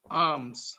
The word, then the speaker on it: arms: Remember, R is silent here.